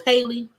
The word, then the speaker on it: Halle: So it's Haley. Because y'all know I be tripping. I know I'm like, is it Haley? I don't know. Because I feel like I would see stuff and I pronounce it different and I be tripping. And I'm like, I don't want to be tripping. And sometimes I do. But yes. Oh, okay. So Halle Berry.